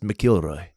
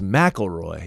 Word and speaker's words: McIlroy: And actually, now that I think about it, I think his name is actually pronounced McIlroy. Oh. Because if it was McElroy, it'd be M-A-C. Mm. But it's McIlroy.